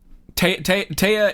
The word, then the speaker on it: Taya: Taya is pronounced Taya, not T.